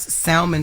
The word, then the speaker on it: salmon: sperm facial all right now I know the L is silent y'all but I don't care